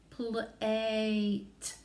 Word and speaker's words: plate: I definitely hear that T sound again, but right now it's that short A because there's no silent E on the end. So it's plat, which is kind of a nonsense word. But if we want to change that A to the long and strong A sound, remember we put that silent E on the end. So now our word is plate. So we spell plate, P-L-A-T-E.